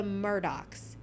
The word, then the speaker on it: Murdaugh: And they're the Murdaughs, even though it's spelled like Murdaugh.